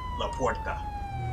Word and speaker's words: La Puerta: Not so much La Puerta, that's how it's pronounced.